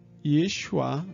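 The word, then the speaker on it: ישוע: vou falar grego e também na pronúncia hebraico né algo como Yeshua jogo aqui para aí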